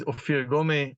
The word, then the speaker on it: Ofir Gomeh: others so as you were saying rightfully and pronouncing rightfully my name is ofir gome I'm the managing partner of a rather small